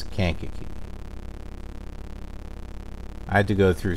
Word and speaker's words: Kankakee: city of kaki snack can khaki it's kankakee I had to go